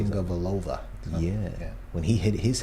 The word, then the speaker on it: Tagovailoa: And you remember the controversy last year with Tua Taluk, I don't even know how to say it. Tagovailoa.